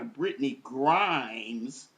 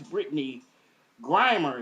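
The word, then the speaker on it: Brittney Griner: I was calling her Britney Grimes. Somebody brought that to my attention. So, we don't we don't want to mis uh pronounce the player of the year in women's basketball, college basketball. Mispronounce her name, especially when she balling like she is.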